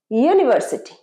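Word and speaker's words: university: দীর্ঘ উ হচ্ছে কিন্তু ভাওয়েল সাউন্ড কিন্তু এটার প্রোনাউন্সিয়েশন কি ইউনিভার্সিটি ইউনিভার্সিটি yeah sound I style ইউনিভার্সিটি of Calcutta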